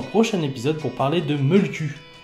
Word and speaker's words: Mölkky: épisode pour parler de Molku, qui s'écrit M-O-L-K-K-Y. Molku. Ou Molti, c'est pareil.